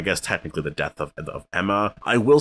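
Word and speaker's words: Aemma: big death here was queen emma or ema i keep saying emma because they pronounce it like that but it's spelled like a e m a which you want to kind of say ema but i guess that's emma anyways his decision was just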